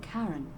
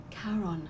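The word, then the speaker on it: Charon: it's just as you described it only your pronunciation is a little off the name you heard wasn't karen it was c h a carol yes n as in caron the foreign of the dead yes exactly who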